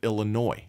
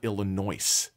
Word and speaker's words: Illinois: background originally and uh the s's are silent just like in the state of Illinois it's not Illinois who taught these people